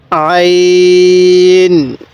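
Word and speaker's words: عين: সাথে বলুন হ্যাঁ এরপরে আইন আইন গলার মধ্যে চাপ দিয়ে পড়বো এরপরে আমার সাথে আপনিও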